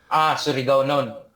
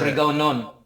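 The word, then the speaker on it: Surigaonon: Many Mandaya speak the Camayo language, which is related to, Tandaganon and Suri Gaunan. That sounds right. Surigao non. It's Yeah. Surigao non. Surigonon. Okay. I'm getting better at Yeah.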